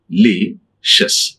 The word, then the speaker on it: delicious: When you find C-I-O-U-S, C-I-O-U-S, don't pronounce the C-S. This is very wrong. Shus. That is, but spelling is different and pronunciation is. Okay, D-E-L-I. It is not a day, it is delicious.